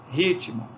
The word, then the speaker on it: ritmo: Ritmo, nós temos um izinho aqui depois do T.